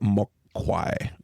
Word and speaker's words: Mogwai: and they actually pronounce it Mokwai, if I'm not killing that.